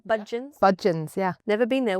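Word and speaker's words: Budgens: Did I pronounce it all right? Budgeons?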